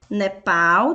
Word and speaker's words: Nepal: Nepal. Nepal tem a última sílaba tônica, por isso é oxítona. E por último, Irã, que